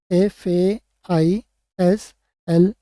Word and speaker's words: फैसला: सिखाने, SIKHANE, का, फैसला, FESALA, फैसला, या FAISLA, फैसला। ठीक है, या FAISALA, फैसला। ठीक है, आप जो भी चाहो, जिस तरह से भी आप आपके एरिया में प्रोनाउंस करते हैं वहाँ पर आप इसका यूज़ कर सकते हैं।